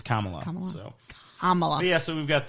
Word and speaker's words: Kamala: hysterically she just Kamala you got to pronounce it right it's Kamala SOA yeah so we've